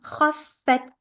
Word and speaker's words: خفت: خفت, shut down the fa. خفت. Also, don't say kha.